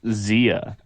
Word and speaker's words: Xia: for someone who doesn't know either language it's pronounced Xia why does everyone think that this is one